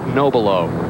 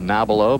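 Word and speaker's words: Nobilo: Frank Noelo. This a six iron. Nice shot by Frank. Another solid shot. Well, it is the pronunciation is Noel. For many years, he's been called Nabalo by a lot.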